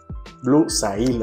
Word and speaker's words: Blue Sail: es el Blue esto se llama Blue seo Blue sail así se escribe y bueno no recuerdo exactamente cómo huele